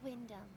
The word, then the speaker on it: Wyndham: Noah Wyndham. So you don't pronounce the H.